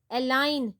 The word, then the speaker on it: align: Align, G is silent.